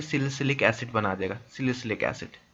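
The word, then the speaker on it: salicylic: सिलिसिलिक acid, सिलिसिलिक acid सबको पता है क्या होता है, ये होता है आपका सिलिसिलिक एसिड। ऐसे इसको हम शॉर्ट में बोलते हैं सिलिसाइलिक एसिड, सिलिसाइलिक एसिड, ठीक है, ये इसका स्पेलिंग हो गया।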